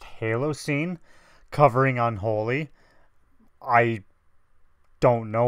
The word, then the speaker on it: Halocene: new one this is I think it's pronounced Halo scene covering Unholy I don't